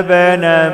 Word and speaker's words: ابن: الكتاب لعلهم يهتدون وجعلنا بنا مريم وامه وامه وامه ايه واويناهما الى ربوه وجعلنا لازما ما اقولش وجعلنا خطا وجعلنا بنا كلمه ابن الالف لا تنطق ما اقولش وجعل نائبنا